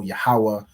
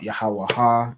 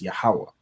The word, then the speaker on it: Yahawah: is pronounced bahasham right the same with yahwah everyone should know yahawah it's not yahaha it's yahawah and yahawashi so you'll